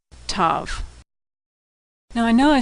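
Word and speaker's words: Tav: sound as in tango now some older Jews in Orthodox Jews will pronounce this letter as an S sound if it doesn't have a dot inside but most people pronounce it as T with or without the dot Tov now I know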